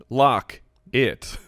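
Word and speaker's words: Lockett: like how does Tyler lock it yeah me too yeah no no no lock it there you go yeah no that's what you needed put the emphasis on the wrong syllable ya know it's it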